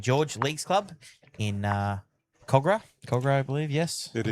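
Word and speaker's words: Kogarah: George Leagues Club in uh Cogra. Cogra, I believe. Yes, it is Cogra. And you even pronounced it properly, so that's great.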